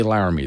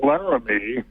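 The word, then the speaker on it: Laramie: wants to talk about how to pronounce ly which I know we're not doing it correctly when we say lar me that I do know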